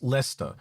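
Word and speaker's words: Leicester: It just said it's pronounced Lester.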